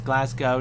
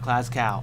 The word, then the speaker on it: Glasgow: There's a G, not a cow. Okay, it's Glasgow, not Glasgow. Okay, that makes plenty of flippin' sense.